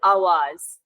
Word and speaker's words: AWAAZ: You can pronounce it Awaz.